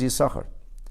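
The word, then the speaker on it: Issachar: you see you sucker spelled with two shins the two sins now there are those who mispronounce this purposely especially polish in the quality of Oscar but that's not the name the name is you sucker and the question is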